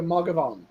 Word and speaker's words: Mathghamhain: it cannot be pronounced how it's spelled. It Ah. is ma like mama, Uh-huh. gov like government, and on like yawn. So Magavan.